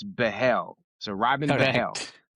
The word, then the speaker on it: Behl: It's not Bill, it's Behl.